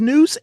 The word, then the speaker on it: Nuse: It is Noose. Nu S. Make sure you spell it right or you're not going to find the right band.